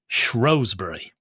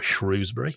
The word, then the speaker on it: Shrewsbury: wait too long now shury or shrewbury before the pronunciation police get on us I think both are fine I hope so a